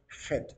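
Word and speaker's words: חית: Esa que dice Chet es la que pronuncian los hebreos Het, como una letra J, ¿verdad?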